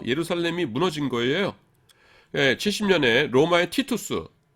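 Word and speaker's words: Titus: 70년에 로마의 티투스, 라틴어로는 티투스고요, 영어로는 타이터스, 그 다음에 우리말로는 디도 장군이라고 합니다.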